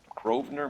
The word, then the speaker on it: Grosvenor: And she was borrowing books from Grosvenor McCaffrey. The S is silent.